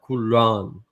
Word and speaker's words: Quran: Like when you say Quran, you gotta force the R, like Quran. Quran. There's a pause in some things, like with Jannah.